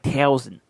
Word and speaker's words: Towson: Now you got to pronounce it right. Towson.